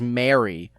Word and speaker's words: Mary: the greeting for Christmas are pronounced all exactly the same. Mary, Mary, and Mary. But I pronounce all three differently. Jesus' mother's Mary. It's Merry Christmas, and you marry someone you love.